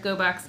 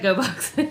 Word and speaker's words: Gogh: Probably like pronounced like box if we were doing it the Dutch pronunciation. But we like GoBox.